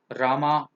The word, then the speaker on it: राम: ठीक है पर उसका प्रोनंसिएशन तो कृष्ण कृष्ण ही रहेगा इट्स not Krishna its Krishna it's राम ना कि रामा इट्स रावण तो शुड